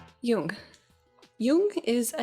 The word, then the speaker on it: Jung: it would be pronounced jung but it's pronounced like it would be spelled y-o-o-n-g and yeah i've actually